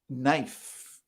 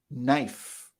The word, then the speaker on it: knife: in that case chemical knife knife so in this case the k you'll see that a lot k n usually the k is silent in this case the k is silent for knife autumn autumn autumn is